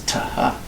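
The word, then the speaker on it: θ: It was a tau, this letter, with an aspiration, a hard H sound. Ta-ha, ta-ha. So if we say the word hot house, okay, that's how they would say this letter. It wasn't th, it was ta-ha.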